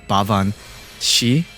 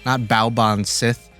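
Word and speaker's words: Baobhan Sith: But when I was researching it, I believe the correct pronunciation is Bavan Shi, not Baoban Sith, even though that's how it's not pronounced, but that's how it's kind of spelled.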